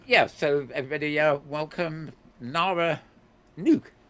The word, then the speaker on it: Nook: okay so um yeah so everybody Welcome Nara nuke y thank you Nar it's be here right now we'll discover why Mal pronounces it nuke and not Nook we're very curious to know that um I